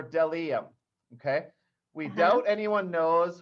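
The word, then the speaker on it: bdellium: although i knew it that b probably didn't say its own name but it's del em b is for dellium okay we doubt anyone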